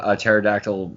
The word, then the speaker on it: pterodactyl: can't you hear the pterodactyl using the bathroom and Dad joke because the P is silent and Tristan like what